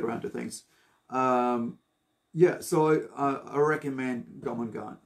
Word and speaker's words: Jormungand: I recommend Jomangan. So it's spelled Jormungand. That's Jor, that's Mungand. Jomangan.